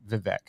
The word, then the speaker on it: Vivek: with with vivec he actually thanks Tim for pronouncing his name correctly um and he doesn't care that people call him Vivek but it is vivec uh anyway so you say tomato I say